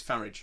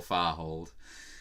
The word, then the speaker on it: Farage: for a greedy and his name is Farage yeah it's a rhyme with garage garage unless of course like you know you notice fancies you guys and you call it a car hold in which case he's Nigel far hold close Nigel cold hmm